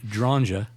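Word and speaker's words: Dronge: and so um uh Alfred dranja I'm going to use the the Polish pronunciation since he's a Polish guy oh okay uh so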